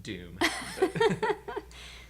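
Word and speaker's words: Dûm: And we named ourselves the Doom Crew. But Doom is spelled D-U-M because it's Dwarvish, like Khazad Doom. And our joke is everywhere we go, everyone's like, oh, it's the Dumb Crew.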